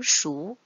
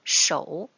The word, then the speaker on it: 熟: 我们先来看第一句，熟，在这里读熟，不能读成口语熟。